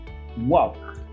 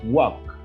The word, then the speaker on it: walk: it is like this walk you know the letter l is silent okay you have to say this way walk walk thank you next